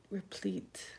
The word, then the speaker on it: replete: a replate are EPL e te re plate replete it's refilled constantly let's see it's on repeat